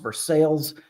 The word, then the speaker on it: Versailles: I wasn't going to correct you, but it's pronounced Versailles, like horse sales.